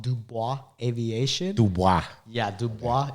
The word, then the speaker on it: Dubois: Dubois. Yeah, Dubois. It's spelled Dubous and aviation, and that's where I learned to fly.